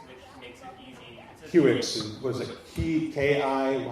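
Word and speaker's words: Kiwix: I'm actually currently working on packaging something called QX, which makes it easy. QX, was it K-I, how do you spell it?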